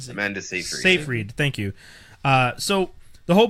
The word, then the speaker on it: Seyfried: So for those of you who have seen In Time with Justin Timberlake and Amanda, is it Seyfried? Am I pronouncing her name right? Amanda Seyfried. Seyfried, thank you.